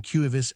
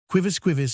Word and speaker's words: quivis: was no better than cuivis ex populo. Quivis Mr. Saddletree, craving your pardon, said, with a prolonged emphasis on the first syllable, Mr.